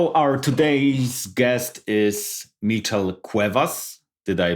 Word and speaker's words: Cuevas: answers stay tuned our today's guest is metal Cuevas did I pronounce it good or you nailed it thank